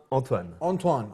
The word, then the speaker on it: Antoine: Back here on The Dean Show with Anthony, and proper pronunciation or proper way to say this name is Antoine.